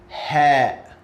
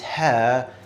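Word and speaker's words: ه: Ha. So by the way, I would like to mention that this ha sounds like house, home, horse, like H in English.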